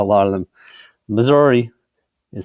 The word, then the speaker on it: Missouri: Misery is how a lot of them, Missouri, it sounds like misery, is how they pronounce Missouri.